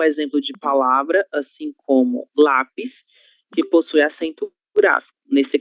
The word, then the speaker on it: lápis: Lápis possui apenas 2 sílabas, mas ainda assim nós conseguimos fazer essa identificação como paroxítona, certo? Já que é a penúltima sílaba, ok? Que nesse caso será lá, certo?